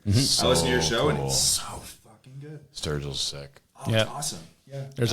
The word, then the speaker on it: Sturgill: Sturgill Simpson is that how you say it Sturgill yeah I did not know somebody was out there doing like Strawberry Fields Forever style like psychedelia over top of like Outlaw country I listen to your show Sturgill's sick yeah awesome yeah there's a bunch there's